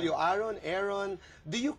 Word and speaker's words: Arron: would Call You aon Aaron do you correct them Oo naman dito po sinasabi mong ah Aaron po Aaron po Hindi po aeron okay but you don't